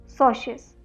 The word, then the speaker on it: socius: मैं स्पेलिंग फिर से लिख रही हूँ इसकी स्पेलिंग है SOCIUS, सोशियस।